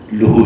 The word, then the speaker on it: لہو: اچھا یہ لفظ میں عرض کرتا ہوں کہ اس کا صحیح تلفظ لہو نہیں ہے، لہو ہے.